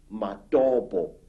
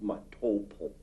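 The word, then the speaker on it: Matobo: place called the mountains of the round rocks matabo wrongly pronounced matopo in in Zimbabwe this Hills are really not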